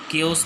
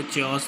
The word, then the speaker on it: chaos: दिखने में कुछ आपको चेओस दिख रहा होगा, लेकिन ठीक है, लेकिन गलत प्रोनाउंसिएशन है, राइट प्रोनाउंसिएशन आपका केओस। क्लियर, केओस होता क्या है, गड़बड़, ठीक है।